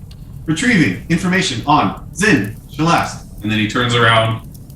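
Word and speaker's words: Xin-Shalast: Zin Shalast.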